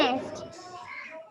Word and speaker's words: honest: Honest. Manas? Honest. Honest. Honest. Is it honest or honest? Honest. Yes. What is the correct pronunciation? Honest. H is silent. We won't pronounce H. It is O.